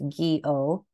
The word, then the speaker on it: Gyo: Gyo, pronounced Gyo, Fujikawa, was an artist.